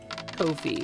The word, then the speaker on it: Ko-fi: Ko-fi, which by the way, apparently is pronounced Kofi. It rhymes with no fee.